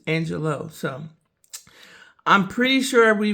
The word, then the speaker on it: Angelou: I believe that's how you pronounce her last name. Some people say Maya Angelou, but I looked it up and apparently it's Angelou.